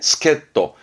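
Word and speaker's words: 助っ人: 하는 부분이고 뒤에는 히또잖아요 그래서 발음은 스켓 떡 스켓도입니다 요거 n1 때 나왔던 단어인데 스켓도 도와주는 사람이니 우리가 말하는 뭐랄까 조력자랄까나 그런 부분을 스켓도 발음 챙겨야 될 부분이세요 스켓도입니다이 데스까 다음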